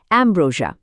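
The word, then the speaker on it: ambrosia: আমাদের আজকের লিস্টের প্রথম শব্দটা হল এব্রোজা। উচ্চারণটা হবে এম ব্রো সি ইয়া।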